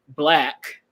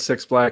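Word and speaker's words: 6LACK: I would have said 6 Black and kept going. And then we would have another. I would have called him 6 Lack. I would call him 6 Lack. His name was Black.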